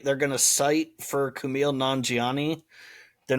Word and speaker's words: Kumail Nanjiani: Munn, and Kumail Nanjiani, I think is how you say his name. Kumail Nanjiani.